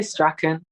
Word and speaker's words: Strachan: There are two ways you can say it. I'm gonna be difficult and do the two ways. So I say Strachan, but my family says Strawn.